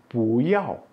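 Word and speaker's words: 不: Pu kalau ketemu dengan nada 1, 2, 3, dia otomatis dibaca dengan nada 4. Jadi, seperti tadi, pu kau, pu xihuan, pu hao itu ketemunya bukan dengan nada 4. Tapi kalau dia ketemu dengan nada 4, dia dibaca dengan nada 2.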